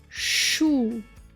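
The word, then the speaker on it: Schuh: in the next combination is s c ha and it sounds like shhh as in the word shu meaning shoe sounds like and makes the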